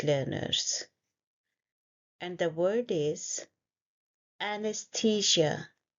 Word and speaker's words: anesthesia: This word confuses many English learners, and the word is anesthesia. It's a four-syllable word. The first sound is a, an, and then s. The, ja. We stress at the.